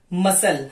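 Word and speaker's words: muscle: now silent letter सी मसल आपने देखा एम यू एस सी एल ई बट इसमें क्या आएगा मसल हमने मस्क कल नहीं बोला है मिसलेनियस मिसलेनियस एेंट एसेंट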